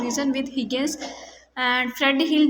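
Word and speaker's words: Higgins: Sorry pronunciation में हिजेंस बोल रही हूँ, ये एग्जैक्टली हिगिंस है, ओके।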